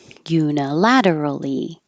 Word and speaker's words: unilaterally: Unilaterally. We do say all of those syllables.